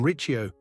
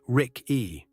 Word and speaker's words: Ricci: Americans say Rick-E, Italians say Ricci. A double C before an I is read as CH, so KH is a K and CCI is Chi.